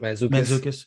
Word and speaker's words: Mantzoukas: How do you Mantzoukas, pronounce his last? Mantzoukas, yeah.